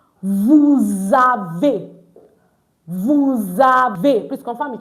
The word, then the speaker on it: avez: So it's not vous avez, it's vous avez. Good. So vous avez meaning you have. Not avez. It's avez. Because EZ is pronounced A at the end of the word.